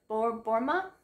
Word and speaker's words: Borma: novel by Rachel Hawk and Mandy Borma. That's how you pronounce her last name.